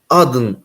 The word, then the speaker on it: Aden: işte Atiye'nin kızının ismi Aden oraya doğru yapacağım yazdın diye de telaffuz edilebilir yabancı dillerde ama Kur'an'da adın cennetleri diye geçer Adem vurgusu da bir